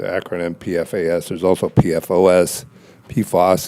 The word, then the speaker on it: PFAS: pfas there's also pfos posos is typically how it's pronounced and basically there are